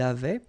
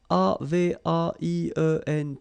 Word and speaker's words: avaient: J'avais, tu avais, il avait. And then you saw probably that we've got also here A-V-A-I-E-N-T, but then you pronounce it avait.